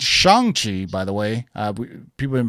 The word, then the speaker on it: Shang-Chi: Shang-Chi. Shang. So it's basically SHONG instead of Shang. That's like the Mandarin way of spelling it.